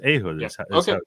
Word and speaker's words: Ehud: something else it's not I speak Hebrew I'll tell you in in Hebrew it's ahood it's not ah a no there is I mean there is